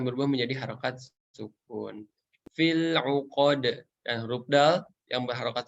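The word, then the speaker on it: العقد: Fil uqad dan huruf dal yang berharokat sukun memiliki sifat qalqalah atau memantul. Ya. Jadi ketika membaca uqad harus dipantulin, ya, jangan sampai ditelan.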